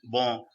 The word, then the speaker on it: bon: And what I'm saying is, newcomers, have you made a note of there is a difference between bo and bon, right? The sound, the pronunciation, right?